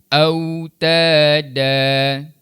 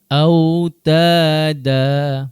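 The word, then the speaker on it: أوتادا: Jadi kalimah terakhir ni cara bacaannya dan cara berhentinya autada. Cuba autada.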